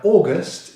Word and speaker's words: August: Now August is a 2-syllable word, and the first is an unstressed syllable, and we start with the long vowel sound or.